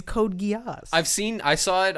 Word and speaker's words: Code Geass: typo what yes yeah this is how it's written code yeah is that how it's said yeah the is code geass i've seen i saw